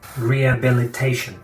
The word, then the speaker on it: rehabilitation: Y si pronunciamos la palabra completa, no se pronuncia la H, rehabilitation.